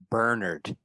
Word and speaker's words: Bernard: Bernard Rose, and it's actually Bernard.